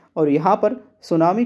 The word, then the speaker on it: सुनामी: तो देखिए दोस्तों, सुनामी शब्द जापानी भाषा का शब्द है और यहाँ पर सुनामी को कुछ इस तरह लिखा जाता है जिसमें टी साइलेंट होता है बोलते समय।